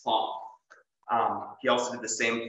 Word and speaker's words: Planck: You can't say Planck, it's Planck.